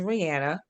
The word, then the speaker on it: Rihanna: It is Rihanna.